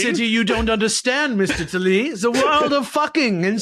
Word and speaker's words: Talese: Yeah, Talese.